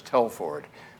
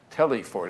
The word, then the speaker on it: Telford: e in my name my name is telford but they they they were they were uh they were shouting telly ford and then another section